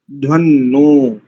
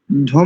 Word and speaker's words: त्रायध्वन्नो: विश्वे यजत्रा, यजत्रा अधि वोच तोतये, तोतिये नहीं करेंगे, तोतये त्राय ध्वन्नो, ध्वम नहीं करेंगे यहाँ पर, त्राय ध्वन्नो अथवा त्रायध्वन्नो, ऐसा भी कर सकते हैं।